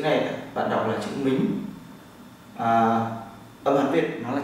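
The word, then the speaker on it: 名: Chữ này bạn đọc là chữ mính.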